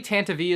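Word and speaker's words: Tantive: very long snazzy says why do you pronounce it tantiv in some clips and tantavi and others and which pronunciation is correct technically tantavi is correct however i just don't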